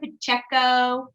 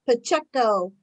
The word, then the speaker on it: Pacheco: Is that how you say it, Pacheco? Yeah, Pacheco.